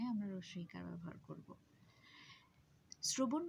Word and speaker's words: শ্রবণ: শ্রবণ বানানটার ক্ষেত্রেও আমরা দেখতে পাই, যদিও এখানে তালব্য স ব্যবহৃত হয়েছে, কিন্তু এটার উচ্চারণটা হচ্ছে দন্ত স, শ্র বলতে বলছি আমরা, আমরা তালব্য স্বয়ের মতো স বলছি না। তাই উচ্চারণ লেখার সময় আমরা লিখব হচ্ছে শ্র এবং বন।